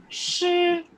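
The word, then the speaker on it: 师: Shi. Shi. Yeah. Yeah. It's not she. It is not she. It is shi. Sh. Shalgam wala. And then adha r ka sound.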